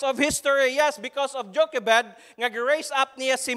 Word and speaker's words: Jochebed: Sige kung unsam gisaktong pronunciation ani. Salamat ko sa internet nga naa Jochebed.